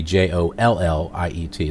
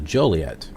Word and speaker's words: Joliet: So anyway, Joliet I think would be Jolliet. This has only got one L, so Joliet.